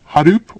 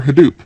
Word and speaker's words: Hadoop: And so in the beginning, there was quite a lot of discussion about, is it Hdoop or Hadoop? And it's just simpler to pronounce it the latter.